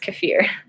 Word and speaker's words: kefir: again or milk kefir some people say I often say just it's properly pronounced kefir I feel weird saying